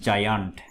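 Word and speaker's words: giant: এটা উচ্চারণ বর্গীয় জের মতো হবে।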